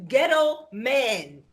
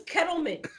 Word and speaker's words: Kettleman: Nigga, your name rhymes with kettle. Your name is Kettleman.